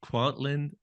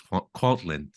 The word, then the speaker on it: Kwantlen: But I believe it's pronounced Kwantlen Polytechnic University. The first word is the one I don't have. I think it's Kwantlen or Oh, something like that.